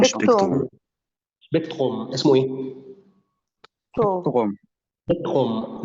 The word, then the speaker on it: Spektrum: شبيكتروم، مش سبيكترم ولا سبيكتروم ولا سبيكترم. في ناس على فكره بتنطقوا سبيكتروم.